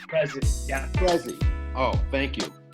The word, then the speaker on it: Prezzie: So, Prezzie, like present. Prezzie. Prezzie, yeah.